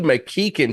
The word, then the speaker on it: McKichan: McKein. how are you, man? Good. And you get props for pronouncing my name right.